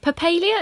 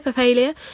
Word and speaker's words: Papalia: here from Vancouver we have got calm and poppy Lea is that the right way to say your surname Ann yeah yep perlier perlier perlier poppy Lea you say tomato and now I want to